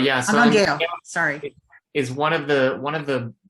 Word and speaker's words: Angangueo: Is that how to pronounce it? Anguangueo, yeah. So Anguangueo, sorry.